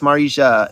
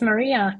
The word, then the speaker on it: Marija: waiting for our guests Marisha is it Marisha did I pronounce that right it's Maria can you hear me